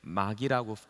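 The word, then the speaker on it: μάγοι: 그리고 복수로 쓸 때는 마기라고 읽습니다.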